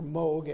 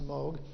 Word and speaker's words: Moog: missed the music synthesizer was Moog or Moga actually emoji but it's pronounced mode steam engine was watt